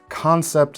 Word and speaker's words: Kansept: That's concept spelled like kansept with a K.